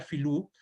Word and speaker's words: filu: la palabra o sea todas las letras B no no se pronuncian en mapuzungun ellos no no no no no las pronuncian por eso lo que para nosotros es B para ellos sería en vez de bilu sería filu Entonces sería la serpiente